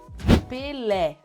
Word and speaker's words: Pelé: Pelé, because of the accent you have é.